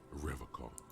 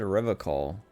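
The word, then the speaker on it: Revachol: He pronounces Revacol with a hard K, unlike other people. Huh. Is it his mug? You said Revacol. I like to pronounce it the hard way.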